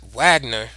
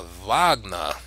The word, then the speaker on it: Wagner: right here display a Wagner right or vogner how is probably properly pronounced when he played this